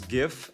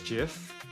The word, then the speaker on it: GIF: so many people pronounce GIF as JIF, which doesn't make sense to me. When you say gift, you don't say jift, right?